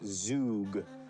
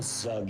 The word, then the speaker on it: Zug: I kind of want to send them up towards Zug, so I'm gonna try that. Oh, we got an answer. All right, Rug? Rug. So that rhymes with Zug, which we know.